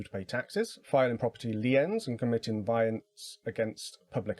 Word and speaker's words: lien: um by that person is discharged and it's pronounced lien uh these actions were but which were established